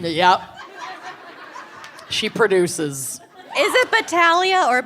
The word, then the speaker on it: Battaglia: So I looked this up. Because I know a Battaglia. Supposed to be pronounced that way. That would be the proper Italian pronunciation. But yeah, the family uses Chicago never met a G they didn't want to the pronounce. bastardized Battaglia. They don't do the silent G.